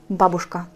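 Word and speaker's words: бабушка: que cette barge qu'un toujours l'accent doit être sur la première syllabe regardez ah ouais uche que à ça fait ça dont babouchka ça signifie grand mère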